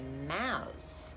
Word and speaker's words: mouse: Só que mouse se pronuncia com o som de S, é mouse, house.